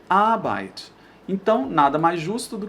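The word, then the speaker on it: Arbeit: palavra a significa trabalho muitas pessoas colocam a sílaba tônica aqui ó abyte mas está errado a sílaba tônica é sempre nesse nessa primeira sílaba nesse primeiro a então mesmo que essa palavra seja enorme assim a gente vai colocar mais força naquele lá então a gente vai falar a bike a gente não vai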